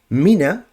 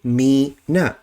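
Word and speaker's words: مِنَ: And so what will happen, rather than reading this as mina, this word, they would say me na. And that's a mistake.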